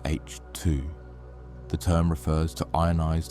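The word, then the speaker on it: H II: Emission nebulas are also called H2 regions, pronounced H2.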